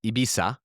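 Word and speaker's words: Ibiza: Oh, ibisa.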